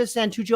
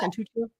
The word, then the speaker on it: Santuccio: Marta Santuccio, am I pronouncing that accurately? Yeah. Santuccio?